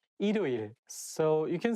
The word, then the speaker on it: 일요일: When the word has the same syllable at the beginning and at the end at the same time, it's not easy to pronounce. For example, 일요일, 일요일. If you read it syllable by syllable, you can say 일요일. But when you say it as a one word, you have to connect it together and say 일요일.